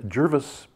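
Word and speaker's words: Gervase: um we had jervis jervis he says it rhymes with nervous so jervis bush come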